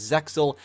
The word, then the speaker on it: Zexal: It is meant to be pronounced as Zael, basically with the X being silent. However, in English we refer to it as Zexal.